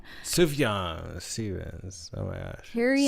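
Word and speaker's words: Sufjan: s UF J like I used to say sufen but it's sufan sufan Stevens oh my gosh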